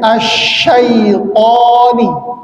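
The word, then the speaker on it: الشيطان: ya setan gitu ya dia seharusnya syai ya syai bukan syaai' tapi syai ya dengan mensukunkan hurufnya kemudian tho itu bukan ta yang diokan bukan th tapi th ya th jadi bacanya asyaitani silakan asyaitan asyaitan asyaitan Auzubillahiminasyaitanir auzubillahiminasyaitanirj.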